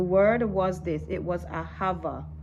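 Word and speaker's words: אהבה: Some people might pronounce it ahawa, because it's I heard that in the old in the ancient Hebrew language, in the original Hebrew language, there was no V, so the word would have been ahawa, A-H-A-W-A, right?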